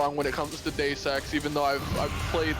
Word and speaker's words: Deus Ex: By the way, you're totally wrong because the U isn't silent like that. It is actually Deus Ex. Yeah, that's what I said. Well, The I mean, U has a little more emphasis on it than that.